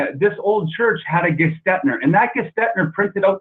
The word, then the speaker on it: Gestetner: So my name is from the copy inventor named David Gestetner. So that's how he basically pronounced it, Gestetner.